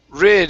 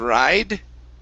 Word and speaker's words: rid: spend all day good this word here is rid instead of ride rid r okay good and